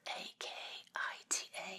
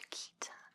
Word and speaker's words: Akita: It's pronounced with an E. It's spelled A-K-I-T-A, I believe, but it's pronounced Akita.